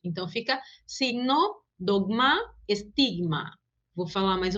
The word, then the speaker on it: signo: Porque em português a gente pronuncia, por exemplo, a primeira palavra como signo, como se fosse escrita com G-U-I. E em espanhol, não, a gente só pronuncia o som da consoante.